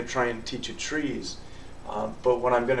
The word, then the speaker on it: TRIZ: to Innovation and it's the acronym is TR r i z uh pronounced trees and it stands for